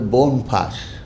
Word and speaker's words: Bonpas: But before he went there, already there was a sect in Tibet who are known as the Bonpas. N is silent, Bonpas.